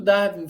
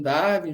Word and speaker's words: Darwin: está aí também, sempre fala isso, que o Darwin fez, entre outras coisas, foi aplicar o uniformitarismo do Lyell à biologia.